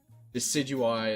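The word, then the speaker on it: Decidueye: Decidui is how it's pronounced.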